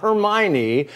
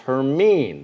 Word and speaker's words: Hermine: we're recycling this name it's not hermione for all the people who read harry potter it is officially pronounced hermine so we're going to